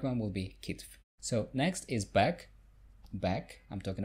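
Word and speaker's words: китф: And the shoulder is kitf. But some people say kift instead. So it's kift, F and then T. So the correct one will be kitf.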